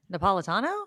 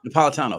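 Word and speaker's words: Napolitano: judge Nia how do you say his name napalitano napalitano thank you um is he still on that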